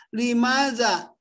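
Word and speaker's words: لماذا: Limaza, mengapa? Limaza dibacanya limaza, mengapa?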